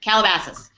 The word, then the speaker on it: Calabasas: How do you pronounce it? Calabasas? That's it. That's it. Calabasas.